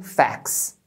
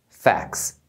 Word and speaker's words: facts: por causa do plural eles acabam não pronunciando o t Então você vai ouvir a palavra como fax fax fica mais fácil de